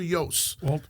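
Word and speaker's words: Iooss: Walter Yost. And it's pronounced Yost. Yost. Some people get it wrong.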